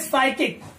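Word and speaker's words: psychic: क्या बोल रहे हैं साइकिक। यहाँ एस से शुरुआत कर रहे हैं और यहाँ पर क्या है जो पी है वो क्या है साइलेंट है, हम उसका उच्चारण उसका प्रोनंसिएशन नहीं करते हैं।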